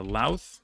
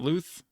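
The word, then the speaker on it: Louth: the pronunciation tips uh lath not Luth and then uh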